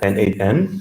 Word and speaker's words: n8n: I'm the head of design at N8N, so that's correct, Stefan, on the pronunciation. N8N or Nodemation is totally fine.